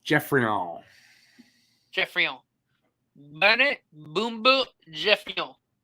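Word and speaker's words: Geoffrion: It's pronounced Joffrion because he was French. No, it's pronounced Jeffrion.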